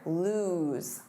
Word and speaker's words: lose: Now the pronunciation here, lose. Lose.